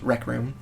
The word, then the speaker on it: RKRM: It's a beautiful acronym of all of our last names, RKRM, pronounced Rec Room.